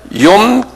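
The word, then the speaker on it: יום: 속죄절 요나를 뭐라고 부르냐면 염 기쁘라 그래요 유대인 말로 여기 날짜를 날이란 소리 날 염 발음해보세요 염 염 그 다음에 키프라는 건요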